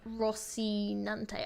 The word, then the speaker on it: Rocinante: I pronounce the horse's name Rocinante.